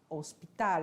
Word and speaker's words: hospital: o hospital que escreve o que se escreve igualzinho em português mas se pronuncia diferente Hospital HU nós temos um